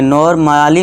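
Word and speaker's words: normally: नॉर्मली नहीं पढ़ेंगे इसे नॉर्मली। नॉर्मली नॉर्मली है ना ए का साउंड ही नहीं आ रहा है। देखिए ये साइलेंट है।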